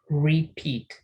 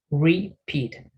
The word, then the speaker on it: repeat: Repeat, porque si fuera solamente R, si pongo así, si pusiera repeat, van a pensar que dice repeat, pero no, es repeat, ¿sí?